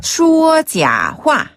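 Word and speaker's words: 说: 자화네 또는 거짓말하다 말하려면 슈어 슈어 한번 더 슈어 어라고 하는데요 여기서는 는 말하다 말씀 설자 갖다가 중국어로는 슈라 발음해요 어 슈어네 이게 이제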